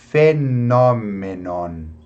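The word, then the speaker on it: phenomenon: Então aqui, ó, PH, fenômenon, fenômenon, ok? É só mais um detalhe, aqui acaba com N, então eu não fecho a boca totalmente para pronunciar esse N, né? Fenômenon.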